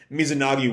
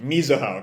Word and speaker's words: Mizuho: if the writing, if Mizunagi wants to. Right, Mizunagi is the author's name, I think. Let me double check. Kusanagi, Mizuho. Got the first two syllables of her given name mixed up.